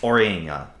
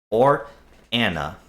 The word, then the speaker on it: Oriana: It is part of the kingdom of Or, known as Oriana. Or Anna is how you properly pronounce it, which I just messed up.